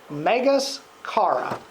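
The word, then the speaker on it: μεγάλην χαρὰν: But in the original language, the words for great joy are pronounced megas chara.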